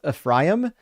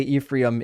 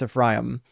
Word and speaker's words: Ephraim: I know it's pronounc it's pronounced Ephraim. You got to I apologize for all the Americans that say Ephraim. It's Ephraim.